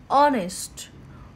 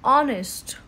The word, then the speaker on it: honest: hen so as a consonant sound a hand honest honest uh honest Edge is silent here and it's going to start with